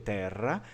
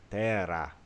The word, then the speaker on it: terra: O italiano vai ter terra, geralmente vai ter um R mais rodopiante assim, e o Vêneto não. Ele vai ter terra, como vocês ouviram ali na hora do vídeo.